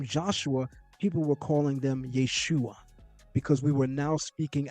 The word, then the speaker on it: Yeshua: and the vowel reduction of the medial syllable produces the attested form Yeshua.